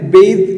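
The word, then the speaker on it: bathe: എന്നാൽ ഇവിടെ ബെയ്ത്ത് എന്നാണ് ഉച്ചാരണം, ബെയ്ത്ത്, അത് വേർബാണ്, ഇത് കുളിക്കുക എന്നാണ് ഇതിനർത്ഥം.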